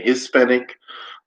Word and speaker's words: Hispanic: So, in America, they say Hispanic, they pronounce the H.